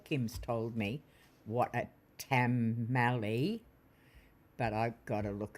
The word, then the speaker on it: tamale: Tamali. Tamali is the pronunciation L says.